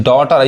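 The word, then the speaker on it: daughter: अब यहां पे जो डॉटर यहां पे एयू जो है वह क्या पढ़ा रहा है ओ पढ़ रहा है डॉटर डॉटर यानी जीएच क्या है साइलेंट है नहीं पढ़ाए यहां देखिए पॉज यह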